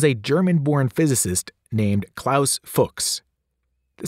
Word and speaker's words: Fuchs: sometimes caused people to pronounce it in a somewhat embarrassing way the solution for English speakers pronounce it to rhyme with books as a college student